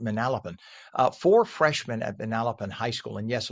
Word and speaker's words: Manalapan: Uh, four freshmen at Manalapan High School. And yes, locals say Manalapan, not Manalapan. New Yorkers say Manalapan.